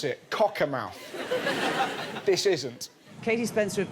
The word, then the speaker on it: Cockermouth: northern town of cockermouth that's that's how you pronounce it cockermouth this isn't katie spencer have been over to